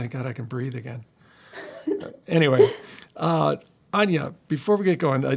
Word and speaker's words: Áine: yes that's right it's Anya I tell people even though it looks like aim it rhymes with Tanja that is a good